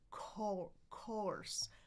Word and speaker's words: course: It's all, as in bought. All as in bought. Course, course. All. Open your jaw wider than you think for this sound, right?